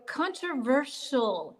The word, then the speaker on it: controversial: So controversial, you've got a shill on the end there, which when you